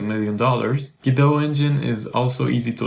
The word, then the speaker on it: Godot: It's usually pronounced Godot. Godot is an interesting video game engine, and it's